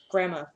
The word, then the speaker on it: grandma: grandparents Grandma and Grandpa there's no D though I spell it with a d but I never say it with the days grandma grandpa see one of